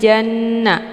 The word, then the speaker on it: جَنَّ: Begitu juga dengan janna, jimnya dileburkan ke dalam huruf nun dengan cara ditekan kemudian ditahan lebih kurang 2 kali ketukan.